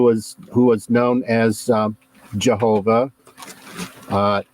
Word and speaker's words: Jehovah: sure okay who was who was known as Jehovah uh yehovah is the correct pronunciation uh also known as the god of